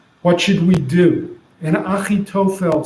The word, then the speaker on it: Achitophel: But actually in Hebrew, we pronounce Achitophel as Achitophel.